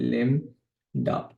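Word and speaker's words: lambda: term लैडा ठीक है this is हाउ इट is pronounced लम डा ठीक है ना लडा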